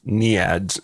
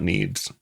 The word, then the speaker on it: NEADS: For the listeners of small note, I made a pronunciation error here, and it is actually pronounced "knee-ads", not "needs".